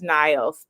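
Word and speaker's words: Nyles: His name is Niles. Niles. Okay. Like the river, but spelled with a Y.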